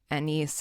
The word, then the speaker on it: Agnes: His wife an or Agnes is how it's spelled, but I think Anise is how it's pronounced in the movie.